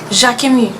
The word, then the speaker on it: Jacquemus: Then there's Jacquemus.